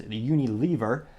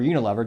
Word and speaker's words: Unilever: They're actually owned by a global company known as Unilever, or Unilever, depending on how you want to pronounce it.